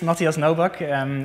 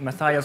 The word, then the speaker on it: Matthias Noback: had here anyway so my name is Mattias malbok it's pronounced in Dutch like that but you you've already heard some other ways of pronouncing it like mathias or mathias anything is good really